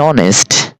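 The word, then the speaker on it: honest: ওয়ার্ডগুলোর পূর্বে এন বসে হ্যাঁ এই যে এন অনেস্ট এন এ আর an hour N এম এ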